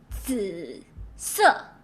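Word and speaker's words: 紫色: The only thing you need to worry about is the English letter Z, which is pronounced as DS.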